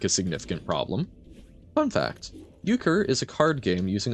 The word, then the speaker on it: Euchre: Oh, I see the EU, and I assume it's like Euler, right? But okay, Euchre.